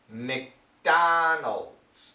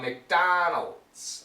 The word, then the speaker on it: McDonald's: to get the pronunciation most Americans will say something like MC it's very short McDonald's okay uh McDonald's all right now this DS it makes a z sound so make sure you